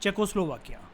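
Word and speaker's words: Czechoslovakia: इसकी प्रोनाउंसिएशन होती है चेकोस्लोवाकिया, ठीक है, चेक रिपब्लिक कहते हैं आज के टाइम में इसे।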